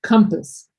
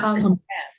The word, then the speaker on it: compass: Okay, and this word here for pronunciation, this is pronounced because we're talking about a noun, okay, is compass, not compass.